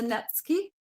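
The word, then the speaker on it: netsuke: one um it's a netki spelled Nuki but it's a netki I have learned how to say it um these were used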